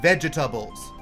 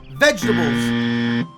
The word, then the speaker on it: Vega-Tables: Then we get into one of the catchier songs on the album, titled Vegetables. Not vegetables! Fucking vegetables. 4 syllables.